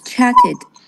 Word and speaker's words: chatted: lived crushed chatted it's chatted and you are correct it because it ends with t exactly so we pronounce it ID Ed it is okay